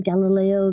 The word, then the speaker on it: Galilei: sat and watched people play the Gallo game Galileo Galilee I can't say his name Galileo galile